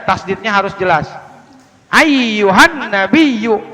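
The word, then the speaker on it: أيها النبيّ: Ayyuhan nabiyyu, ayyuhan, nah jangan ayyuhan nabi, salah, ayyuhan nabiyyu, nggak boleh ya.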